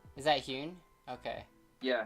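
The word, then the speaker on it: Huynh: Oh, Aaron Hune. Is that Hune? Okay. Yeah, it's Lisa. Okay. I went to um Colorado Champs and he was there and that's how they pronounced it. Okay. Noted. Aaron Hune.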